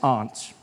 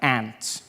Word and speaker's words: aunt: For instance, I pronounce the opposites of uncle as aunt. I say my aunt. Out here, you say my ant, which to me is an insect, which made me look